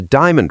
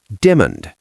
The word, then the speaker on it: diamond: The word is spelled d i a m o n d. Three syllables. Di a mond. But native speakers often crush it into two. Demund.